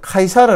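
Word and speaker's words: Caesar: c 저라는 장군이 나옵니다 시저 라는 이름은 요 사실 영어식 발음 이고요 실제로 이탈리아나 라틴어 발음은 카이사르 라고는 카이사르 줄리어스 카이사르 카이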